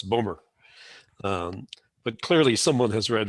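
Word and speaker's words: Bowmore: year i think it's bomber b.o.w.m.o.r.e which the scots pronounce boomer but clearly someone has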